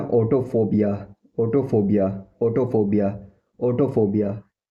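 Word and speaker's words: autophobia: इसको बोलते हैं ऑटोफोबिया, ऑटोफोबिया, ऑटोफोबिया, ऑटोफोबिया।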